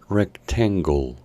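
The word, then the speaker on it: rectangle: e recta mientras que la letra e del final es muda rectengo y para decir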